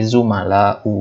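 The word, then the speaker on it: زملاءُ: Yang tidak boleh ditanwin. Jadi zumala'u bacanya.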